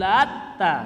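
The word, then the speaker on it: اللات: Afara'aitumul lata, al-lat ada dua cara bacanya Pak. Ini di dalam ilmu qiraah ya, cara baca Al-Qur'an. Quri'a bitakhfifit ta'i. Yang pertama dibaca dengan diringankan tanya tanpa ditanwin. Afara'aitumul lata. Al-latanya itu dibaca tanpa ditanwin. Wa quri'a, cara baca yang kedua dibaca bitasydidha, dengan mentasydidkan tanya.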